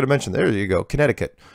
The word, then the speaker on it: Connecticut: I'm a Hungarian flat earth believer currently living in Connecticut. Thank you very much, Laz. Oh, by the way, I got to mention, there you go, Connecticut, right? Nobody uses it. That C is like never pronounced.